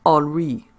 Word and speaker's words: Henry: He was a sod jockey named Henry, pronounced Henri.